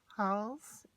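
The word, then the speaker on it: Hals: has rembrandt vermeer and i think it's pronounced halls a h-a-l-s but don't quote me on that um but it comes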